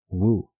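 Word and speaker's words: 悟: This verb is mirrored in Chinese, where it is written with the same character and is pronounced entirely as wu, with the descending tone.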